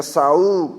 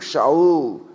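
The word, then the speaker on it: שאול: xi nunca esqueço disso tem muitas palavras na Bíblia no português nós pronunciamos si mas na verdade é xi né Saul shaul siló Xiló né berba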